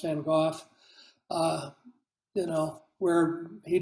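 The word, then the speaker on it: Van Gogh: still alive you know as opposed to being the van go which should be pronounced van goof uh you know where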